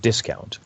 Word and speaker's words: discount: 如果你係當佢係一個 noun 嘅時候咧，佢個 stress 喺第一個 syllable，所以應該係 discount 嚇。